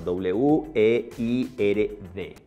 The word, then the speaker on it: weird: W-E-I-R-D. La pronunciación de esta palabra es weird.